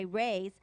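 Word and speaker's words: Rui's: party a special occasion you will see why Reyes spelled r-u-i apostrophe s Shanghai Bistro is truly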